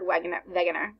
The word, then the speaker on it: Wegener: So example, the text states that Alfred Wegener, sorry, pronounced like a V, created the continental drift theory.